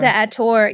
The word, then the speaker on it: Attor: The Adder, there's just something about him. The Attor. Yeah, that was another pronunciation, the Attor, which I just assume, okay, I guess that's what she meant.